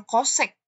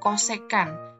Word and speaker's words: cosecan: namanya cosecan Alfa ya ini dibacanya jangan kosek ya jangan kosek tapi kosekan kosekan Alfa itu adalah kebalikan